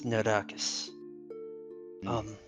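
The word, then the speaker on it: Narakaas: I don't know who this Anakis is, but It's Nodakus. He's pretty important. I'd love to tell you about him. Yeah, can you spell that for me? Narakas?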